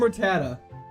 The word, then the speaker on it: Rattata: Hyperbeam Rattata. A little tempting, but our move set's too good. I think we're not going to do it. How do you pronounce Rattata? The last T is silent. Ratta.